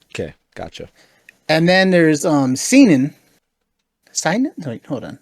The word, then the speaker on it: seinen: and then there's seinen. Seinen? Wait, hold on. How do you? Welcome to this pronunciation video.